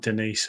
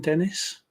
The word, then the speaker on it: Dennis: It is Dennis. It's not Denise or anything, is it?